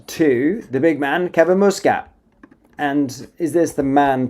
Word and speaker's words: Muscat: It's Muscat, not Muscat.